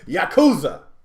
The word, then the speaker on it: Yakuza: I'm G try to I'm G try to pronounce this game uh the right way Yakuza is that is that right you got it